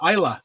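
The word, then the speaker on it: Islay: wrong but i said it right it is isla it's just pronounced it's isla spelled is l.a normally yeah this is going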